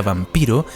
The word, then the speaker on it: Vampir: conocer lo que significa vampiro es en un informe del oficial austriaco flukinger en 1732 el título de su informe equipara un fonema serio pronunciado por él en alemán como vampir el cual igual a